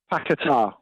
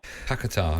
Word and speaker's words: Paquetá: just pronounce his surname one more time for me. Paquetá. Paquetá, okay.